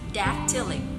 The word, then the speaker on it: dactylic: asked them to say dactylic. So the adjective form, so that they would remember that there are 3 syllables in a dactyl. Dactylic, dactylic. First syllable is stressed, dactylic.